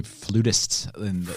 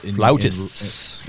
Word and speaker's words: flautist: There's not many flutists Flautists, actually. Flautists. Flautist, that's how it's pronounced.